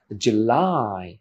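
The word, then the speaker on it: July: আছে June June দেন জুলাই জুলাই এখানে একটা স্ট্রেস আছে লাই এর পরে সেকেন্ড সিলেবেলে জুলাই জুলাই ওকে দেন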